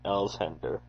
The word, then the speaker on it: Alexander: said Dooble Sanny, as people generally called him, his name being Alexander, pronounced by those who chose to speak of him with the ordinary respect due from one mortal to another, Sandy Elshender.